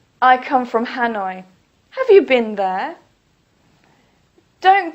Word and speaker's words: Hanoi: Please don't say Ha-noi. Please say Hanoi.